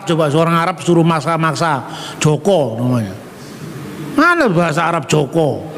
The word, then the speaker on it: Joko: seorang Arab suruh maksa-maksa Joko namanya. Mana bahasa Arab Joko? Tulisannya juga Juku loh bahasa Arab. Gitu? Ya huruf Zin, Wau, Kaf, Wau, Juku namanya. Namanya yang benar Joko bukan Juku, karep-karep mulah.